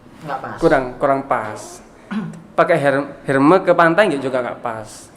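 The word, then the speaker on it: Hermès: Hermes. Tapi dibacanya Hermes.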